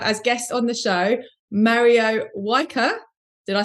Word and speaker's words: Mario Wijker: I'm really happy to have as guest on the show, Mario Wijker.